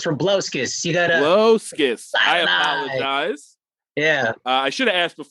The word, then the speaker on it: Rabliauskas: fun of me paul rablioskis oh that's close we don't pronounce the eye in that so it's from blaskis i apologize yeah i